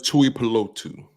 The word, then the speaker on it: Tuipulotu: I can never pronounce Marlon Tuipulotu. Tuipulotu.